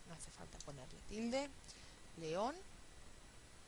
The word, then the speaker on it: León: hace falta ponerle tilde León aquí Tenemos también una palabra aguda pero esta palabra aguda termina en N y al terminar en N es una palabra rara y hay que ponerle la tilde autobús aú palabra aguda